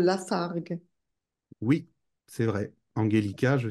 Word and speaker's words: Lafargue: d'écrire je disais que tu fais un erreur de prononciation tu dis Paul Lafarge il s'appelle Paul Lafargue oui c'est vrai angellic